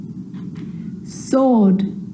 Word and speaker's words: sword: The letter W is silent when it's at the start of a word before the letter R, like wrong and wrist, and right or wrote. It's also not pronounced in these common words: who, whoever, whole, to, sword, and answer.